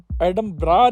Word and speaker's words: Edinburgh: गए एडम ब्रग castle एडम बरा एडम ब्रा नहीं बोलते एडम बर्ग बोलते हैं इसे लिखे जब स्पेलिंग में देखता हूं तो एडम बर्ग पढ़ता हूं लेकिन इसका असली में एडम ब्रा नाम होता है तो एडम ब्रा कासल